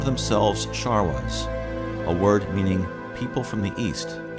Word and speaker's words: Sharwa: Before long, the world discovered these Sharwas, whose name was later misunderstood and pronounced Sherpas.